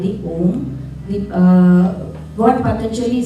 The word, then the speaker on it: Om: a together put put together becomes the prra OM a u and just splitting up into three syllables and what we going to do here